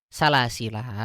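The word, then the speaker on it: سلاسل: Bisa dia salasila atau salasil. Nah, kita baca bareng-bareng. Inna a'tadna lil kafirina salasil. Atau inna وَأَعْتَدْنَا لِلْكَافِرِينَ سَلَاسِلَ. Seperti itu. Nah, jadi mau salasila atau salasil dua-duanya benar ya.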